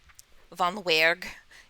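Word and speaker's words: Weerg: would be a sight to see you think vanuerg v-o-n-w-e-e-r-g that's how i pronounced it the first time yep yeah that's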